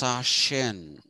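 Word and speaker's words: Sachsen: something like that um it is pronounced sashin sometimes i don't know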